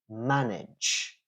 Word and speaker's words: manage: pronounce the word correctly for example let's take the word uh to manage yeah m a n a g e to manage to manage a fridge manage fridge they sound the same uh another